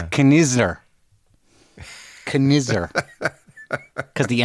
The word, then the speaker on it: Knizner: It's Kisner. It's Kisner? That's how you say it? The N is silent? The N is silent. Well, one of the N's is silent. Yeah, the first N. It's Knizner.